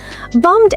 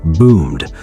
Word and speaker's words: bummed: Bummed out is just slightly more emphatic. And mistake four, pronunciation. It's bummed, rhymes with drummed, not boomed.